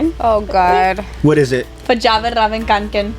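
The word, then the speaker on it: Fjällräven Kånken: And like, obviously, I murdered it, and he's like, "No, you pronounce it Verjavenravenkanken." And since then, like, I don't call it a backpack. I call it my Verjavenravenkanken.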